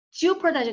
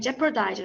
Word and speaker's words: jeopardize: 그러니까 지오퍼라고 하지 마시고요. jeopardize 그냥 jeopardize 그래. 애 발음이다. 애. jeopardize. 오 발음이 좀 거의 안 나는. 그래서 jeopardize. R 써주셔야 돼요.